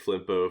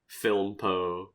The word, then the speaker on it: Flimpo: Proud to thank Flimpo for such a sweet name, and I love how people think that it's like Filmpo, or there's like so many common like misspellings or mispronunciations of them.